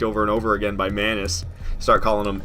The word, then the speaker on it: Manus: skipped the last one is it pronounced is it not pronounced M anus no it's not pronounced Manus I don't think M anus it's Manis isn't it it's Manis I'm like 100% sure it's Manis everybody says Manis I like the two